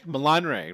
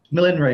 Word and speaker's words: Millen Ray: Milan Ray, right? Like the city, right? It's Millen Ray, yeah. Millen Ray, I had it right the first time, Tony. Yeah. More emphasis on the Len.